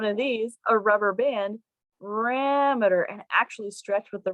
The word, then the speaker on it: parameter: real quick you see just the different steps parameter figure out what the what the primary or